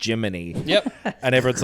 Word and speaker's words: Gemini: Cricket by calling him writing it as Gemini yes like a computer AI voice thing would be but it's still just pronounced Jiminy yep and everyone's like